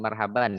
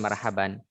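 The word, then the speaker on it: مرحبا: belajar Marhaban deh Sana dibilang Marhaban itu dari segi pengucapan yang sesuai dengan kaidah bahasa Arab sebetulnya kurang tepat Hai yang mungkin ya yang tepat adalah Marhaba bukan Marhaban kecuali diikuti oleh kata yang lain atau disambung dengan kalimat setelahnya baik kita lanjut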